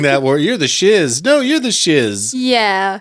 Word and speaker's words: Shiz: Like, okay, I have to assume that the reason it was called Shiz is because the guy who wrote the music wanted it to rhyme with whiz.